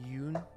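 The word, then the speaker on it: Ioun: me an ion stone i think it's pronounced yoon i'd say ivan all right i actually used to say ion stone for the longest time and i changed it to yoon like maybe six years ago five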